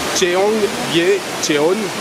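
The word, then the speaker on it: 청계천: par hasard dessus, ça s'appelle, attention à la prononciation, Cheonggyecheon.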